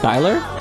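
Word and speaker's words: Schuyler: It's pronounced Skyler.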